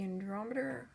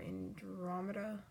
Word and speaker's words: Andromeda: And then here we have Noodle Raymond's OC Andromeda, or Andromeda, however you want to pronounce it. I pronounce it like both ways depending on whatever. Andromeda, either way, I pronounce it both ways.